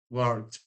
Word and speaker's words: worked: Y pasado y participio se escriben igual y se pronuncian igual, que es worked, como con una T al final.